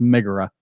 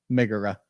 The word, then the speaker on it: Megara: It's pronounced Megara. Megara.